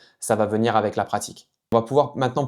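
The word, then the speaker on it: 辣: veut dire épicé et qui se prononce la la donc encore une fois 4e ton ici la la par exemple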